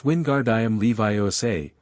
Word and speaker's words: Wingardium Leviosa: And it's Wingardium Leviosa. Stress the gar and make the o in Leviosa long.